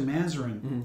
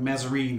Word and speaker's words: Mazarin: he changed it to mazarin to be more french correct that's right it's probably not pronounced probably like mezzarine or something like that right uh pronounced in french he did that to